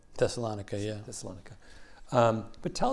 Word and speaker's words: Thessalonica: beautifully and firmly planted in salonica am I pronouncing it right thessalonica yeah thessalonica um but tell us about Detroit